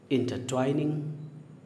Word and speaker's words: intertwine: इसके फॉर्म्स होंगे different forms: इंटरट्वाइंड, इंटरट्वाइंड, इंटरट्वाइनिंग, इंटरट्वाइंस। इसका प्रोनाउंसिएशन आपने ध्यान से सुना, इंटरट्वाइन, INTER, यहाँ तक इंटर पढ़ेंगे और TWINE यहाँ से ट्वाइन पढ़ेंगे। नाउ इट इज़ इंटरट्वाइन।